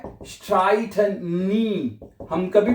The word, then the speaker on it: streiten: wir streiten nie। अब यहां पे देखिए, यहां पे ई आई इकट्ठा है ना, इसको हमने आई प्रोनाउंस किया है। क्या पढ़ा है? आई पढ़ा है हमने इसको है।